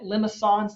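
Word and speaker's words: limaçon: little kind of weird fringe accent on it limisons that's how you pronounce it but r equals a some number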